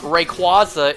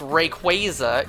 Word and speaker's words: Rayquaza: Not shiny Virizion, it's not pronounced Virizion. Just like it's not Rayquaza, it's Rayquaza, it's Virizion.